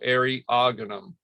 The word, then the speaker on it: Eriogonum: So generally, A good rule of thumb, although I see it broken all the time, is the emphasis is on the second syllable. Okay, so Eriogonum, fasciculatum.